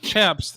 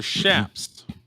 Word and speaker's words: chaps: They're not chaps, they're shaps.